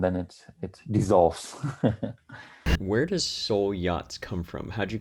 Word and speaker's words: Soel: It's solar and it's electric. That's why it's spelled SOEL. And there's also wordplay in it, because in the naval jargon, a boat has to have a soul. I pronounce it Soel Yachts because, that's what we think makes the most sense.